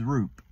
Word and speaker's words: Roop: my last name is Roop and Coop rhymes with it all right go figure